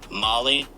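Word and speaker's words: MOLLE: I'm learning my way let's just look up the pronunciation so I don't get killed in the comment section Molly Molly that's it Molly that can't be it's not Molly bro is it Molly like the drug it is Molly okay well I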